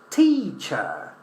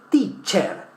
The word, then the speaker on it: teacher: So we say sailor, sailor, sailor, teacher, teacher. So a problem we may have is, oh, I see the letter I, veo una E, digo E, teacher, teacher. Okay, so we don't in English, we say teacher, the same as sailor.